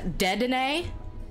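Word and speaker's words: Dedenne: for we have a i call this pokemon de den i've heard it pronounced uh dead in a but it's the rodent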